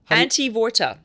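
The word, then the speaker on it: Antevorta: This is, how are we pronouncing this? Antivorta.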